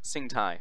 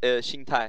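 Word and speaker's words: 心态: I also got told that I've been pronouncing Sing Tai wrong. Yeah. It's like Sing Tai, right? It's Xing Tai.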